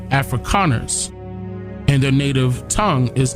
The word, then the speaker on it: Afrikaners: calling themselves africans but it's pronounced afrikaners with the k afrikaners and their native tongue